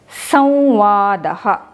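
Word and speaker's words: संवादः: and you can say, you can replace the anuswara with the nasal sound of va, and you can write it like this and you can pronounce it as samvadaha.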